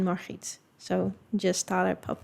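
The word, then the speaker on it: Margriet: But I was like, if you want to know how they would be pronounced in Dutch, it would be Ulana, Batrix, and Marit.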